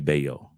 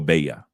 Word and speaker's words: Valle: state our state is is spelled v a l l e it looks like it's spelled Valley but it's actually beo or baa and uh in the